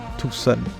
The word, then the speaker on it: Tucson: On passe ensuite par Tucson, prononcé Tucson. Ils sont assez spéciaux quant à la prononciation ici.